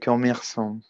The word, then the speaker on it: commerçant: Mon oncle est commerçant. Voilà, très bien, Simon. Mon oncle est commerçant. Donc, n'oubliez pas que c'est un C cédille, donc je vais prononcer S, non?